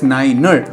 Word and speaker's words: niner: For example, the number 9 is spelled out as Niner, and the number 1000